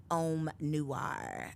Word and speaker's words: Om Noir: So let's jump into Om Noir.